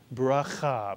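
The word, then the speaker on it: ברכה: So the shva is pronounced I, as in the word fish, even though it is not counted as a vowel. So the first syllable in this word is birah, and the second syllable, cha, mitsuyan.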